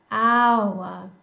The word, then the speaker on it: hour: In contrast, hour is a vowel sound.